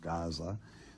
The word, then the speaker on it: Gaza: in Hazirim, even unto Aza, which is Gaza today, the name should be pronounced almost Gaza, the Capturims, which came